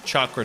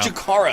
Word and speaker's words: Chikara: Crazy's going to go change his car, and I can't wait for it to be the Chakra 2. That's not how you say it. Whatever. It's Chakra now. Chikara. So, Chikara.